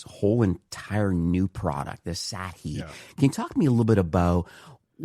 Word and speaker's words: Sathi: that he's built something new and it's called Sathi and it's spelled s a t h i and it's just launched in the Shopify App Store.